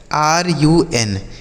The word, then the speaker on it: run: किसी भी शब्द में अगर दो कॉन्सोनेंट के बीच में यू लिखा हो तो हम उस यू का जो उच्चारण करेंगे बच्चों, वह यू का उच्चारण आ के रूप में करेंगे।